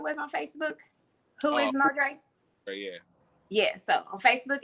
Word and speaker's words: Modre: It's MoDre, but it's spelled MoDR with a 3.